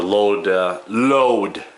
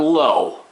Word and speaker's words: load: And the load, L-O-A-D, not low, load bearing wall. Everybody pronounces it as if it was low.